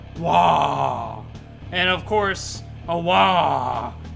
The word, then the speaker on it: Waaagh: just the fact that they just don't pronounce the G so instead of it being a walk it's more like whoa and of course a